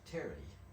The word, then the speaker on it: Terre: Enfin, ça s'écrit comme notre mot terre. En réalité, en anglais, on le prononce Terry.